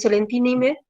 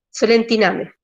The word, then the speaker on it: Solentiname: que es un cura en realidad, que es Solentinime, es un poco difícil la pronunciación, Solentiname.